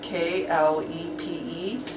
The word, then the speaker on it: klepe: And in Bosnian, it's spelled K-L-E-P-E. We're making a guess using our English derivation and calling it klepe.